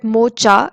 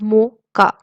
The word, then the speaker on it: mocha: It is not pronounced as mocha, it is rather pronounced as mocha.